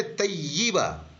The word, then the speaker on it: طیب: अब कलमा तय्यबा पढ़ते हैं हम, वो भी गलत है, कलमा तय्यिबा। इसी तरह से हम मर्दों का नाम पुकारते हैं तैयब साहब, वो तैयब गलत है, तय्यिब।